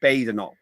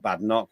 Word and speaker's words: Badenoch: It's Badenoch, not Badenoch.